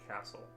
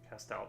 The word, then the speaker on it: Castell: fibercast I think cast is it castell or castle? Have I been saying it wrong this whole time? Castle. Uh, Castell. Oh, okay. Okay. Okay. Okay. That makes sense. Castell.